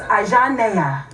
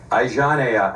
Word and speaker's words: Ajanea: So it's Ajanea. Ajanea. And Where I'm from, we all have French African names like that, so I have a Joel.